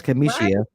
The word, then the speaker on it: Kamishia: Even though my name is never pronounced correctly, that's Kamishia.